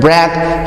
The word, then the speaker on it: breath: that difference is that the word breath has a sound at the end as in thousand in thing but the word